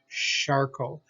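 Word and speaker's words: Charcot: we get but again that's not a hard k sound that's a charcoal so we have a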